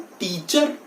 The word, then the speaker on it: teacher: आर, ये जो last वाला आर है, that is silent in this. इसको हम टीचर ना बोल के टीचर बोलेंगे. टीचर. आर is silent.